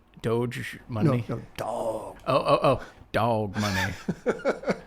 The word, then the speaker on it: Doge: kind of going with the flow that the dog money was sort of a response to the crypto mania can you please pronounce that correctly doge money oh oh dog money my little niece